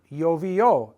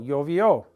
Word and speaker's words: llovió: Last night it rained, llovió, accent on the O, llovió.